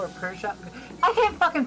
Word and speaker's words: Peugeot: I'm trying to fucking correct my pronunciation of Peugeot or Peugeot. I can't fucking pronounce that fucking shit. Why do we Peugeot.